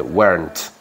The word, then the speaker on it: weren't: Y esta R, si eres británico, tampoco la pronuncias. Went. Went. Pero bueno, esta pronunciarla si queréis, no pasa nada. Pronunciarla. De hecho, un americano lo pronuncia, dice weren't.